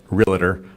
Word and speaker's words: Realtor: And that's why when people say, I'm a realtor or realtor, some people, they add that extra syllable in there.